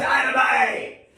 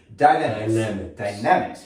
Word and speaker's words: Dynamix: So if you want to learn more about I always say it wrong. I think like Jimmy I watched Good Times growing up, so I'm like, Dynamite! Dynamics.